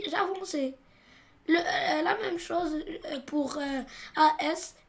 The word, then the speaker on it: avançais: Ici, on a AI et comme on a A, on doit ajouter la CDI pour ne pas dire j'avonquais. Et pour forcer la prononciation du son C, j'ajoute une CDI. Et je dis j'avançais.